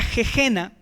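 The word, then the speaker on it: gehenna: infierno de la palabra jejena, que comúnmente se tradujo como infierno. Se escribe gehena con h intermedia y con doble n.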